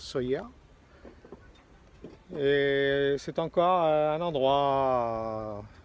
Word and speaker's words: Sóller: port naturel de sawyer alors ça s'écrit solaire mais ici il prononce sawyer et c'est encore un